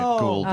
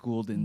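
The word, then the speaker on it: Gulden's: Oh, we got a Goulden commercial where it pronounces it Goulden. Oh, The good. subtlest one throw. We don't have it queued up. I just watched it on my own, and they said Goulden. So Jimmy's right.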